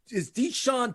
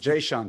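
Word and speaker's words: Jae'Sean: Is Deshaun Tate. Say that 5 times. Jayshawn Tate. Thank you. Jayshawn Tate with the J.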